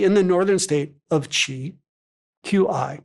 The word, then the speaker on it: Qi: B.C.E., Most notably in the northern state ofQi, Qi, pronouncedqi, cheese rulers were famous for their marshall prowess and had regularly been called upon to defend the Joe's northern frontiers.